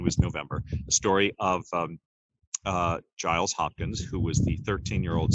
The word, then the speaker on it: Giles: And I said to my friend, he's like, it's pronounced Giles. And he said, well, she's the teacher, she would know. Like, I know how to pronounce my own name.